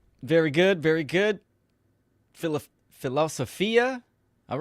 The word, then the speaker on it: philosophia: cards real quick Banner philosophia which is the Greek pronunciation the love of wisdom again I'm live also